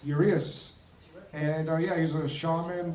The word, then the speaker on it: Urias: Urias. Urias.